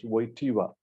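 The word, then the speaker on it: Wojtyła: course Carol yoseph waiva he's pronounced as waiva okay and he was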